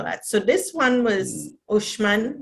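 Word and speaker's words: Uxmal: so this one was ushman they pronounced the ex shh because there is mayan language which is still spoken white i think mexico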